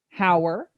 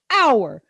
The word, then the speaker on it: hour: of day that is pronounced hour with an h in it do you say hower no you say hour that's the error that's